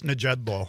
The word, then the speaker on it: Nejedlo: It is Nejedlo. Nejedlo. You do pronounce the J.